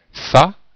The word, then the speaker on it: fat: Des adjectifs qui ne changent pas au féminin, comme chic, fat ou fat, les deux prononciations sont possibles dans le sens de prétentieux, grognon et snob ne changent pas.